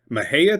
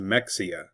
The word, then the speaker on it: Mexia: Maha, Texas. It is not pronounced Mexia.